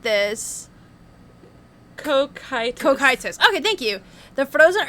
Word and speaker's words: Cocytus: It's pronounced like this. Cocytus.